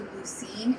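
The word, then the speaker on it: Lucien: Well, everyone, we apologize and butchered your town name. Lucene, you're right.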